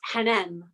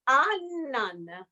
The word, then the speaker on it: Hanan: In Italy, they didn't, the little H is silent, so they cannot take it. Yes, they cannot say it. So they say Annan.